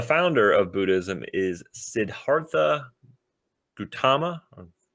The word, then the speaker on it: Gautama: Buddhism was founded by Gautama Buddha. Gautama Buddha. So not Gautama. Gautama. Well, Gautama, Siddhartha Gautama.